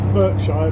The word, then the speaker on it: Berkshire: It's spelt Berkshire, but it's pronounced Berkshire, because us Brits were crazy a lot, as you well know. We say one thing but pronounce it a different way.